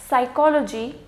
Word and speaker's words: psychology: then again pneumonia some psychology psychiatrist psychedelic and psychosis in all of these six words the P is going to be silent now when we come